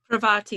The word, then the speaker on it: Parvati: Parvati, yeah.